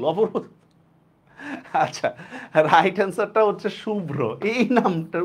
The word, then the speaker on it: শুভ্র: আচ্ছা রাইট অ্যান্সারটা হচ্ছে শুভ্র, এই নামটার উচ্চারণটা ভুল। এইটার উচ্চারণটা হবে হচ্ছে এরকম, তালব্যস্য রস্যকার ব হসন্ত ভ রফলা ওকার। ঠিক আছে, শুভ্র।